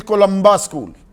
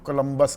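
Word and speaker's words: Columba: ठीक-ठाक पढ़ लिया पर आम आदमी वो कोलंबस कह देगा कोलंबा उसको अच्छे तरीके से प्रोनाउंस करना आना चाहिए।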